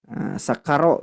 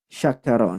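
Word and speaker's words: شكر: seperti itu walit tafasinu Nah kalau huruf syin itu harus ada sifat eh tafasyi artinya menyebar udara di mulut nah di makhrajnya apa namanya menyebar udaranya la Yas y nah seperti itu bacanya Ya tidak boleh lagi tertukar dengan Sin karena bisa berubah arti bapaku sekalian seperti yang sudah masyhur yaah yang sudah masyhur sakaro gitu ya dengan syakaro Nah ya Jadi kalau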